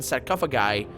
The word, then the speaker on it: sarcophagi: 7 sarcophagi. That's how we pronounce that in Latin. Sarcophagi. Yeah, with a rolling R.